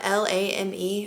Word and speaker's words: lame: This is called a bread lame, but it's spelled L-A-M-E. I'm pretty sure it's pronounced bread lame though.